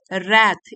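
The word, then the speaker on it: wrath: sorry that his रैथ रैथ इसमें W silent है had caused the डेथ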